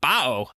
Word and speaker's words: Baoh: be saying in scooby-doo voice we're talking about bow i believe scooby would pronounce it raoul yeah i also want to